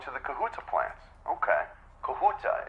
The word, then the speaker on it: Kahuta: Kahuta, is that the correct pronunciation? Am I saying that right? Yes.